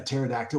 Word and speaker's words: pterodactyl: And I was thinking about, you can never hear a pterodactyl when they go to the bathroom. Yeah. Because the P is silent.